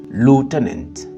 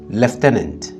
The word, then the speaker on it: lieutenant: dire lieutenant en anglais pour les Américains on dit lutenant lutenant tandis que pour les britannique ils disent leftent leftent différen frappant n'est-ce